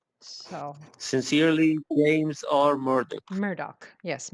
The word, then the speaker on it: Murdoch: strategy decisions yes so sincerely James or murd Murdoch yes Murdock so my resignation is due to what does